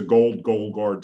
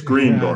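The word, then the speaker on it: Greenguard: So let me just, I think I might have pronounced that wrong, believe it or not. Green Guard. Gold Green Guard. I got that, yeah. You got it right. So it's Green Guard.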